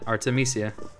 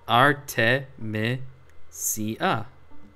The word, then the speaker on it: Artemisia: there you go just say it like that Artemisia yeah exactly it's literally just Artemis With Pizzazz oh there you go see it's fine just sound it out man Arte Me Sia Aki goes first